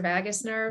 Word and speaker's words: vagus nerve: I don't have to pronounce it vagus or vagus nerve.